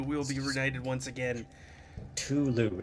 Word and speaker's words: Cthulhu: be Ed once again Tulu is that is that with a silent c Tulu and he wanders